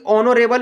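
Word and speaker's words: honourable: इसलिए कि ऑनरेबल में दोस्तों एच साइलेंट होता है।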